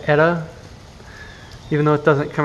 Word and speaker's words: Eta: slash hurricane etta ada i don't know how exactly you pronounce it because it's a greek word but the only basis i have on that is eta carina the star so i guess i'm gonna say etta even though it doesn't